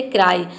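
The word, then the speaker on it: cry: यहां पे देखिए सी का क हो जाएगा। आर का हो जाएगा आधा र और वाई का हो जाएगा आई। पूरा हो जाएगा क्राई।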